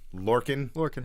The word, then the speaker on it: Lorcan: Lorcan? It's like the Orkin Man, but with an L.